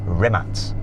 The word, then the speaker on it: Rimac: Thank you to McMurtry, and thank you very much to Rimac. Though seeing as I'm now an honorary Croatian, I should say it properly. Rimac.